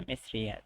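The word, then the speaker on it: مصرية: পর্যন্ত থেমে যাবে আর যদি মিশরীটা মহিলা হয় যাকে বোঝাচ্ছেন মিশরী সে যদি মহিলা হয় তাহলে ইয়া তা থাকবে মিশ্রিয়া আর উচ্চারণ হবে মিশ্রিয়া আমরা অক্ষ আচ্ছা সিরিয়া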